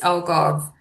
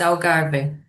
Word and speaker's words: Algarve: So if you saying it in English is alv, but if you say in Portuguese is agar.